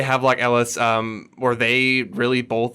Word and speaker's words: Havelock Ellis: like sigmund freud and how do you say that havelock ellis h-a-v-e-l-o-c-k if you want to look it up yeah we'll say have like ellis um where they really